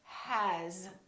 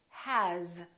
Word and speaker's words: has: For example, the word has. It's spelled with an S, but the sound is actually Z, has.